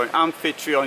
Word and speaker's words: Amphitryon: vehicle it's 742 centimeters long and patreon so an unfit tree on yes that's how it's pronounced 967 it's it's got a height of